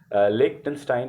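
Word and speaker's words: Liechtenstein: इसका मैंने pronunciation specially देखी थी क्योंकि बड़ा टेढ़ा सा वर्ड है ना, लिechtenstein इसको बोलते हैं।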